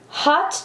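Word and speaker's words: haute: a dark blue undertone hot chocolate but it's spelled ha u t e and midnight kiss which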